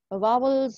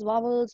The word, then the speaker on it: vowel: in this English class my teacher used to say vowels Wows wobbles all the time so but later on when I got to know the correct pronunciation of this word is a vowel okay now now this